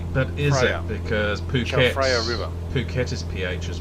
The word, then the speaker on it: Chao Phraya: The Chao Phraya River. That sounded like a pretty good attempt. Chao, yeah, Chao. No, Phraya. There's a PH. Phraya. But is Phraya. it? Because Chao Phraya River.